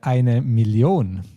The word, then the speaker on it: eine Million: The last word in German will say that eine Million. 1 million. Yes, exactly. So we pronounce that ON a bit stronger than in English.